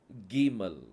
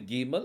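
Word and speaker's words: גימל: அடுத்த அல்பாபெட் வந்து வந்து கீமல் கீமல் கீமலுக்குள்ள புள்ளி வந்தால் அதனுடைய உச்சரிப்பு வந்து ஸ்ட்ராங்கா உச்சரிக்கணும் க அப்படிங்கிற உச்சரிப்பு வரணும் புள்ளி வைக்கல அப்படின்னா அது க அந்த ஹ அப்படிங்கிற உச்சரிப்பு க கூட சேர்த்து வரணும் க புள்ளி வைத்தால் அது வந்து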